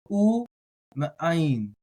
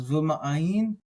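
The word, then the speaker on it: וּמֵאַיִן: So, u ma'ayin. That makes it a little bit easier. U ma'ayin. Now, some might like to do this as v ma'ayin. Fine, u ma'ayin, v ma'ayin.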